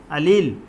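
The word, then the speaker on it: allele: बार पूछा जाता है, अलील, या कुछ लोग इसको अलेल कहते हैं, आपको जो प्रोनाउंसिएशन मुनासिब लगा ये किए, या अलीलोमार्फ।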